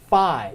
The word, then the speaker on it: phi: to hone in on phi this is a pH sound pH sound letter is Phi so it you make